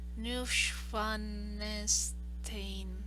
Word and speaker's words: Neuschwanstein: Schloss Neuschwanstein. Neuschwanstein. Yeah, I think I know it. Like, I can't pronounce it, but I can read it.